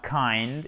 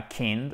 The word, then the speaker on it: kind: He was kind et non pas kind, ok?